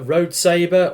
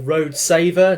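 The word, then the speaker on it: Road Sabre: mini version of uh road saber or or road saver depending on which pronunciation you want to use um he transforms from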